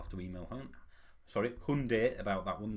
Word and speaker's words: Hyundai: to email hunt sorry Hyundai about that one they've come out and said that we're all saying it wrong it's Hyundai not Hyundai excuse me but I'm